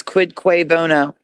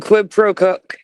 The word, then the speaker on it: quid pro quo: Do you mean quid pro quo? Then he says what is quid qua bono? You mean quid pro quo quid pro quo.